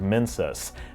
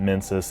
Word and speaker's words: Mensis: There's also the fact that Mensis is pronounced similarly to Menses, yet another allusion to the female reproductive system.